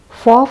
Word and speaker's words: faux: Faux fur is quite merely fake fur. Faux, which is pronounced like the word faux, is French or not real, synthetic, acrylic.